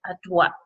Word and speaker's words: droite: It's slightly different from ahead for right because you have to pronounce that T. I think the E on the end kind of emphasizes that T, so à droite.